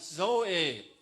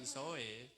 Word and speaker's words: Zoe: karena ada pada saya hati-hati bacanya Zoe bukan soi lawannya soke adalah showed